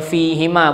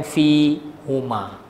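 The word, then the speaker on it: فيهما: Kenapa baca hima? sebelumnya ada huruf ya mati fi, eh, fi. Ha, cuma mati ya tu tak ditulis kat atasnya. Okey. Maka sebab tu bacanya fi hima bukan fi huma. Untuk meringankan sebutan.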